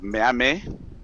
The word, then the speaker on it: Miamen: Kamara, you're doing very great. It's Miamen.